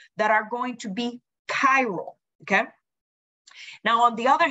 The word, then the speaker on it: chiral: notes a cairo and please this is not pronounced chiro is cairo i want to specify that um remember you don't study chemistry you study chemistry so the right way to pronounce it is chiral um so a chiral carbon atom must be